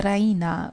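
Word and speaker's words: Raina: she pronounces it the Reina with the stress on the EE Reina she goes to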